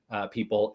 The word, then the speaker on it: Pipl: I think it's pronounced people, but it's PIPL.